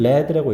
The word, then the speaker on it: lead: consider lead 자 LE 근데이 리가 아니라 여기서는 발음상의 발음이 이제 여러분들 발음 기온은 딱히 신경 쓰지 않는 세대인 건 알지만 얘는 레드라고 읽고요 우리가 말은 납이 납